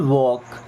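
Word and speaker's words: walk: We should वॉक। We means हम या हमें शुड एल साइलेंट ना शुड मींस चाहिए। वॉक देखिए एल साइलेंट है यहां पे ना।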